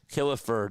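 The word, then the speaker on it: Killefer: reserved clause was uninforcable, he also found that Kilifer had a moral commitment to the Phillies even if a valid contract was not in place. Yes, Kilifer. That's spelled K I L L E F R.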